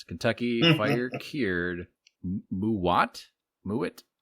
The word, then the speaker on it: MUWAT: not the word that I was going to mispronounce Kentucky fire cured muat mu m u w a t muat something like that this is from subculture Studios